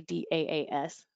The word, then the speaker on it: DaaS: I guess I can say, do you pronounce it DaaS or do you say D-A-A-S? DaaS.